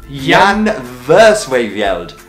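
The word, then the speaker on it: Jan Versweyveld: pronunciation anymore after this Yan verse way veld Jan verse favela it's Yong Yong verse wave yelled and if you never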